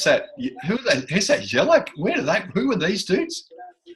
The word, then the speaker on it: Jedinak: How do you pronounce that? Who's that? Jellic? Who are these dudes? Jedinak.